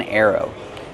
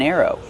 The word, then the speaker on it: arrow: Use the sound air like hair and chair. Air. Plus the long O like no and go.